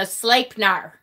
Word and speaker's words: Sleipnir: EI spelling is pronounced as A. Oh, okay, so Sleipnir.